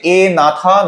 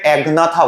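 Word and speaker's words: Agnatha: আচ্ছা, ভার্টিব্রেটের মধ্যে দুটো ডিভিশন আছে, এ নাথা, ন্যাথোস্টোমাটা। এ নাথা আছে, অনেকে ভুল করে একনাথা বলে, জিটা সাইলেন্ট।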